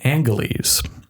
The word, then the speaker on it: Angeles: Although Los Angeles is given its modern pronunciation in the film, Angeles, prior to mid-1950s, residents said the city's name with a hard G, Angeles.